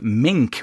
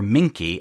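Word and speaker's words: minke: call produced by the dwarf mink or minky m i n ke dwarf minky whale a type of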